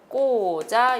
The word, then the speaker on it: 꽂아: 낫습니다 자 그 다음에 비녀를 꽂아 라고 되어있는데 작고 다 이렇게 발음한 안되겠죠 꽂아 이렇게 마름 하는 것이 맞습니다 여기서 마검 저를 콧소리를